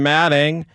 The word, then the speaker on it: Alfombra: We found out his name is pronounced Matting.